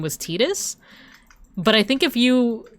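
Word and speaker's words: Tidus: And I remember lots of people would call him Titus cuz it sounds like the name Titus, right? But it wasn't until Kingdom Hearts where um they confirmed that the pronunciation was Tetus.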